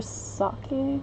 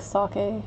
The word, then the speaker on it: sake: on pronunciation I think older Americans tend to say sake not sure why like their Saki Saki Saki Saki Saki a pronounced sake not softened it it's sake is the thing that you drink